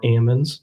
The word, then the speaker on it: almonds: If you drive up and down the I5 corridor, central valley, you get almonds or ammons, depending on how you want to pronounce it.